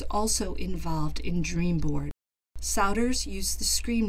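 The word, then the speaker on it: Sowder: it turns out that souter which rhymes with chowder if you're wondering how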